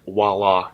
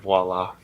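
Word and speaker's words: voilà: a person can have is saying voila instead of voila especially when they spell it I hate it so much god damn it it's not that complicated it's just voila it's exactly how it looks people don't know how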